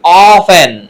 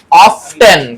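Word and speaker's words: often: ও এফ টি এন, ও এফ টি ই এন, অফটেন। কিন্তু এটা কি অফটেন নাকি অফেন? এখানে টিটা আছে কিন্তু কি বলা হয়? এটার জন্য বলা হয় যে এই অফেন উচ্চারণে টি উজ্জ থাকে।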